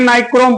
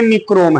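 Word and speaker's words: nichrome: हाँ, कह रहा है, देखो इंग्लिश में नाइक्रोम पढ़ा जाता है, हिंदी वर्जन में निक्रोम है, वो NICROM इसका स्पेलिंग है, तो नाइक्रोम पढ़ते हैं, लेकिन हिंदी में उसको, तो अंग्रेजी और हिंदी का प्रोनाउंसिएशन अलग अलग है, थोड़ा ध्यान रखना।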